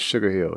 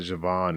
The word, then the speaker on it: Sugar Hill: To clear it up, the name is Sugar Hill. Sugar Hill Steward is not Javon. It's not Javine. It's not whatever else you're trying to pronounce. It's not it. It's just Sugar Hill. Sugar Hill Steward or Sugar or Hill, but not the J word.